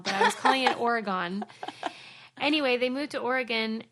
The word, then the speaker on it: Oregon: episode it moved to Oregon which by the way folks I now pronounce correctly on a previous episode I kept calling it Oregon and people like Suzie Oregon what is wrong with you I